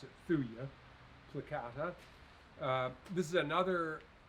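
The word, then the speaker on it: Thuja: columbia this is thuia placata uh you might pronounce it fuja but most people pronounce it thuya plicata uh this is another conifer that's native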